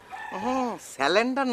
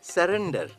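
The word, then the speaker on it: surrender: সাব আমি স্যালেন্ডার করমু আইরা স্যালেন্ডার না ভাইয়া উচ্চারণটা হবে স্যারেন্ডার মানে আত্মসমর্পণ আরে দৌড়ো রাখ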